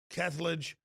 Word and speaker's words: Kethledge: And we've got others here, but I'm told that it's Raymond Kethledge and Thomas Hardiman that are in the lead from my White House sources.